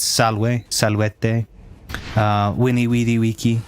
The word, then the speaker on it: salvete: If you've got one person, if you've got multiple people, it's salvete. But it's spelled S-A-L-V-E, like salve, the word salve that we use. But it's salve, salvete, winnie weedy wiki, not veni vidi vici, but veni vidi wiki.